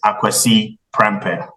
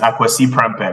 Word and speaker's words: Kwasi Prempeh: So, so my name is Kwasi Prempeh, right? Okay. So that's how you pronounce it, right?